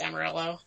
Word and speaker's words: Amarello: last name correctly yeah a lot of people want to pronounce it like I'm gonna REO like it's Spanish but yet we're from Kentucky so it's Amarillo okay hi I'm Derek Jensen